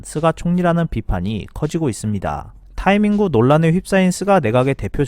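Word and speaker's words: タイミング: 한국 사람은 영어 원래 소리에 근접하게 타이밍이라고 하지만 일본인의 표준 발음은 타이밍구입니다. 타이밍은 어떤 일을 할 때 가장 좋은 시기나 효과가 가장 크게 나타나는 시의적절한 순간을 뜻합니다. 일본에서 C19 감염증 확산이 날이 갈수록 심해지면서 타이밍구의 둔감한 정치 지도자라는 낙인이 스가 총리에게 찍히고 있습니다.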